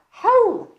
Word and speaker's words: ховла: Хаул. Пишется ховла, говорим хаул.